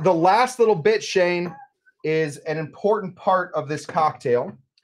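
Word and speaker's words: Islay: that's in your drink this is called an Isa Scotch it's it's spelled i s l a and uh so find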